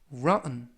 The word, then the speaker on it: rotten: 이번 표현은 rotten 이라고 발음하시면 되겠고요.